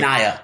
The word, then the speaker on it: Nia: It's Nia. Like Nia Long.